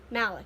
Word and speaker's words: Malik: jla pronounce malik and m a l i k is pronounced malek which my brain switches